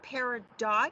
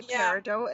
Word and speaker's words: Peridot: And this one here is Peridot. We're just making these now. Peridot? Is that how you pronounce it? I do. I've heard it Peridot, but I say Peridot, and that's Metatron's cube, isn't it, on the front?